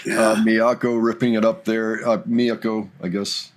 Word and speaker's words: Miyako: Miyako, I guess. Somebody said, you should only be using the first syllable for the accents on all of the names in Japan.